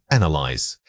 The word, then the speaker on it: analyze: First analyze. Compare it with analyst. The stress moves from the first half to the second.